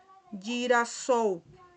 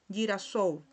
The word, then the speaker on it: girasol: Tenemos la palabra girasol, ¿verdad? Se escribe de esta manera, pero cuando hay una L aquí al final, se pronuncia como si tuviese una U. Girasol, girasol, ¿ok?